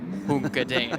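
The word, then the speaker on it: Juncadella: He said, you have to say it Daniel Hunkadea. You must say it slowly, I was told.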